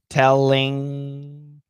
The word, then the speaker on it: telling: got the right idea so the ing three pronunciations are in which is perfect in now when we do in now the tongue touches in the front in in and then we can have a schwa thank you luciana perfect